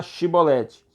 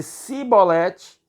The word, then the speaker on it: chibolete: respondesse que não diziam Então diga chibolete pronuncie a palavra chibolete se ele dissesse sibolete sem conseguir pronunciar corretamente a palavra prendiam e matavam